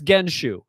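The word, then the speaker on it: 原酒: know we could Google so it's genshu that's how you pronounce it genshu I'm looking at the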